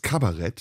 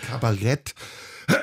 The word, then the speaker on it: Kabarett: In Deutschland natürlich entwickelt sich in den 60er Jahren mit Wolfgang Neuss noch eine andere Sparte, nämlich das Kabarett. Ja. Das ist ausgesprochen Kabarett. Und nicht Kabarett.